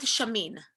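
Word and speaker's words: Chamine: book on positive intelligence who's the author shirzad shamin right here shirzat shamin is the author and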